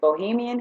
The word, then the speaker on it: Bohyme: I have is called I pronounce it Bohemian hair but it's b-o-h-y-m-e and you can call